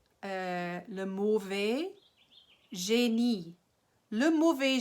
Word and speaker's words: génie: Le mauvais génie. Le mauvais génie. Le mauvais génie. The evil genius, right? And in French, the emphasis is on the last syllable, right?